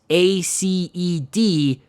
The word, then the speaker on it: Aced: His name is spelled Aced, A-C-E-D, but it's actually pronounced Aced, and he sucks.